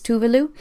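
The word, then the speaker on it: Tove Lo: is where we all learned that the Swedish pronunciation of her name is tuvalu but it wasn't until about a week ago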